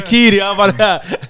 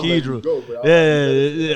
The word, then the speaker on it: Keedra: I'm about to say Keedy. You know that New Orleans about to come out, but I'm about to say Keedy. It's Keedra. I gotta say her name.